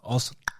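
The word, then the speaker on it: Xhosa: That's how it's actually pronounced, by the way. Losa? Osa, with the tongue click. Oh, Osa.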